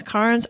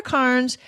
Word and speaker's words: Cairns: you can hardly hear the sounds like hands Carnes I'm gonna always always you're just gonna be used to it mispronounced almost every odd name out there so sorry about that but anyway so we're going to Carnes which is in northern North East Australia and